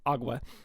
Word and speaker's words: agua: Both water and aqua, or well, apparently it's pronounced agua, refer to the same thing.